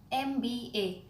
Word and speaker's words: MBA: the next word begins an MBA now you would say that M is a consonant correct but when we say n em how's the sound like a moe so it starts with a vowel sound and of course when